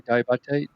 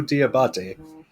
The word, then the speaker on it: Diabate: They had okay, say his name for me, Diabate. Mobu Diabate.